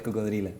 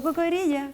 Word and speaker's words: Cocodrila: ¿O es cocodrilla o es cocodrila? ¿Cómo se dice? Cocodrila, está ¿Cocodrila? bien. O cocodrilla, como queráis.